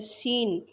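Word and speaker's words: scene: सीन, सी silent है।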